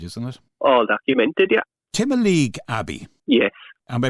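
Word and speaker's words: Timoleague Abbey: Timaleague Abbey. Yes. Am I pronouncing it correctly?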